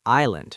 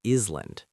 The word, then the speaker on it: island: Island sounds like island, not island. Ignoring rhythm.